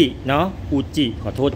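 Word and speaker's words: 宇治: นำ เข้า นะ ครับ เป็น ชา จาก เมือง อุนจิ คุณ พูด จี้ เนาะ อูจิ ขอ โทษ ที ทุก คน อร่อย มาก อร่อย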